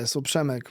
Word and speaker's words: Przemek: Where did the name Shamrock obviously Shemeck, is that how you pronounce it? Yeah. Yeah. Submeck my my name is but when I was